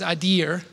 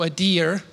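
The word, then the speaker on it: אדיר: And the Hebrew word is adir, so it's ado, adir. A female deer is an easy way to remember that.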